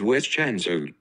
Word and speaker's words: zwischenzug: what it is and I will give the pronunciation one more time is Westchester so thank you very much and you have